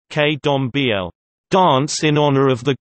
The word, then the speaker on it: Candomblé: Candomblé, Portuguese pronunciation, K-dom-b-l, dance in honor of the gods, is an